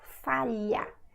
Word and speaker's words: falha: falha, that means fail, falha. See, if it's difficult for you to pronounce it first, because you don't have this sound in English, you can say li, li, falha, olho, until it becomes natural, okay?